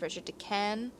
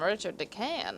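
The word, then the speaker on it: Richard de Calne: And from what I read, I thought that it was supposed to be pronounced Richard de Can, like the L is silent.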